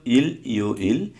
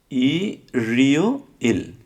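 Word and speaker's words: 일요일: হওয়ার কথা ছিল ইল ইও ইল, এটা না হয়ে এর রিউলটা ইয়ংয়ের স্থানে চলে গিয়ে উচ্চারিত হবে। তখন উচ্চারিত কী হবে? উচ্চারণ কী হবে? ই রিও ইল।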